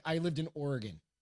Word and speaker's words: Oregon: It's like I lived in Oregon. Everybody said Oregon. Oregon. I'm like, no, that's not how you say it. It's Oregon. Oregon.